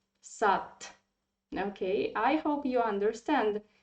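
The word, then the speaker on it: сад: we pronounce it like because in russian language um if you see the in the end of the word any word it should be pronounced like sat okay i hope you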